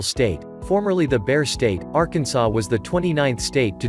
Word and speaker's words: Arkansas: Arkansas is not pronounced the same way as Kansas. While it is most likely that Arkansas and Kansas both come from the same root word, their pronunciation is wildly different.